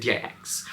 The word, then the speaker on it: Dix: for is the numero D am I pronouncing that right it's like Dix um so this one